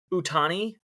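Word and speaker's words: Ohtani: And then the Shuhei Utani. Did I pronounce it right, guy? I think it's silent O. Sound Hatani. dead center.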